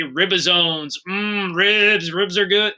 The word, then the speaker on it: ribosomes: your ed puzzle as well and that's where ribosomes are made that word is pronounced ribosomes every year even though i'm not at school